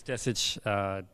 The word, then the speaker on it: Desic: Yeah, it's Desic. That's how you say it.